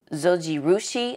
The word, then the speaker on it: Zojirushi: So really do like this bread maker from, oh, I don't think I even said the name, Zojirushi, I believe that's how you pronounce it, but they're very famous with their rice makers.